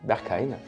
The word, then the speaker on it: Berghain: Le bergain prononcé en allemand Berkein est un club boîte de nuit techno de Berlin en Allemagne.